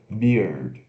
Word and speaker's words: beard: Então só coloca, pronuncia a cerveja e acrescenta o som do D no final. Beer, beard, né?